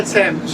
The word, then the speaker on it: Thames: How do you pronounce it? Thames, We were yeah. both wrong. The River Thames, yeah.